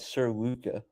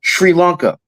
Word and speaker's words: Sri Lanka: I I thought he was always called Sir Luca. That's what I thought so too, but no, it's pronounced Sri Lanka.